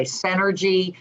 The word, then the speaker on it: Cinergy: we've been talking about it's energy financial but it's spelled with a c because my last name's two hearts c-i-n-e-r-g-y synergy financial dot com thank you cindy